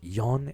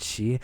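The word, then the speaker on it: 四: Also, the kanji for 4 has 2 different pronunciations, which I'll say it's yon and shi, and I hate that because it's the same character.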